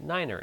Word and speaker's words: niner: properly like nine or nine is not the right way say Niner is we're not supposed